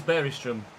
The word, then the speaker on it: Bergström: player was that someone mentioned about the Finnish pronunciation. Stevenson down the line for Leicester City. Bergström comes and claims it well. 'Tis Bergström.